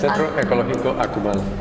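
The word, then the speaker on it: Centro Ecológico Akumal: How do I pronounce this? Centro Ecologico Akumal.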